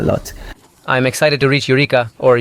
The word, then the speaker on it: Eureka: I'm excited to reach Eureka, or Eureka as the locals pronounce it.